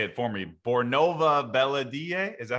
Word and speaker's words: Bornova Belediye: Bornova Belediye.